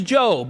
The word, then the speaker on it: Job: name is job now if you're new to the Bible maybe you called him job but his name is job okay it's spelled j